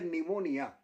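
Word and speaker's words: pneumonia: उतने वैज्ञानिक नहीं होते जैसे एक उदाहरण उच्चारण है निमोनिया बीमारी का नाम है निमोनिया और इसकी स्पेलिंग है पी एन ई यू पी एन ई यू एम ओ एन आई ए यह निमोनिया की स्पेलिंग है हम बोल कुछ रहे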